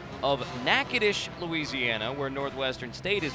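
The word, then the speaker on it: Natchitoches: Northwestern State that is pronounced Nacades, Louisiana and famous alum.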